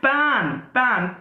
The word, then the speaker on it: pan: It is pan, P-A-N, pan. There is a great difference in the pronunciation. If I say pen, P-E-N, writing, pen, then my pronunciation is pen. Okay. If I say pan, then it is different pronunciation.